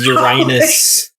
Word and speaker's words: Uranus: uranus you know and i make them all repeat it i'm saying it's uranus probably well before i started apparently they used to make the public put money in this uranus jar whoever said it wrong had to put a